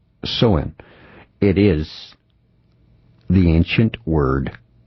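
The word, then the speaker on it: Samhain: It's pronounced Soen.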